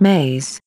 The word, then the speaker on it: me: which we will call me's pronounced maze belief system and words